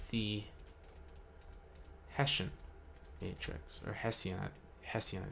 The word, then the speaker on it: Hessian: it is called the hessian matrix or hessian hessian i think i think it's called pronounced hestian but it's called the hessian